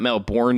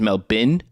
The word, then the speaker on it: Melbourne: and it is pronounced Melbourne it is not Melbourne you you silly Americans it is Mel bin imperialists learn other languages